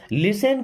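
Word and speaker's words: listen: close the door okay लिसन केर यहां पर टी साइलेंट होता है ना लिसन मीस सुनो केयरफुली का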